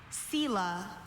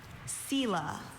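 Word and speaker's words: Selah: and it's an interjection sila. Does this word have any alternate pronunciations? I have sila sila or sila. Sila sila.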